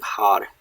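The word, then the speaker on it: hār: Har is H-A-R. It's a long A that means gray.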